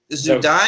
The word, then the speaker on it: Zewdie: i'm here with danny uh simmons and zeb zu dai is am i pronounced okay good okay good good i want